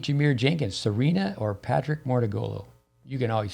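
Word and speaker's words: Mouratoglou: with uh patrick mordegulu i've mispronounced the name before as money gulu but uh with who paid jameer jenkins serena or patrick mortagolo you can always say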